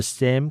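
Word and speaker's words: 三: In this phrase, bat jiu means eyes, and lui is the same classifier we use for flowers, but in this context, neng lui means a pair.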